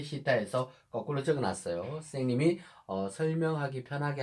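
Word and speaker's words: θ: 영어에서 이거 뜨 발음 나잖아요. 그죠? 요거는 헬라어에서 시타라고 읽어요.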